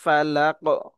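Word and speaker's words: فلق: শুধু শুধুমাত্র উচ্চারণটা বলব আউজুবি রববিল ফালাক এখানে কফ যেহেতু কলকলার হরফ এখানে কলকলা করে পড়ব ফালাকশার খলাক এখানেও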